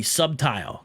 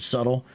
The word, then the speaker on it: subtle: He was trying to be subtile, because, you know, they have trouble pronouncing the word subtle. They'll say Paul was being subtile there, and he was agreeing